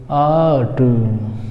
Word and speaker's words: art: रा यहाँ भी साइलेंट रहेगा दोस्तों, जो रा का साउंड है वो नहीं आएगा, ये आर साइलेंट रहेगा यहाँ भी, तो पढ़ेंगे आर्ट, कैसे, आर्ट।